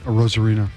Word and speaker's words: Arozarena: Yep, Arozarena.